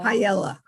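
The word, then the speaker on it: Pajala: spent 4 years mispronouncing Kelly's name, and it's Uh-oh. Payella.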